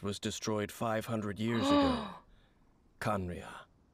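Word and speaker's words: Khaenri'ah: destroyed 500 years ago kanria that's how you pronounce it conriya 500 years ago then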